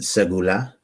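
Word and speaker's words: סגולה: Yes, so you would pronounce it segula, and it's Yeah.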